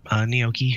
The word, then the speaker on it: gnocchi: So what is gnocchi? Is that how you pronounce it? Yep, gnocchi. The G is silent.